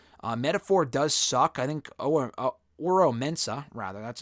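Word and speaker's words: Oro Mensah: I think Oro Mensa, rather, that's how you pronounce his name.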